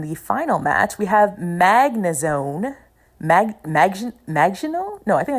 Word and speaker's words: Magnezone: Hopping into the next match and the final match, we have Magnezone. Magnezone? No, I think I said it right before. Magnezone. Yeah, Magnezone.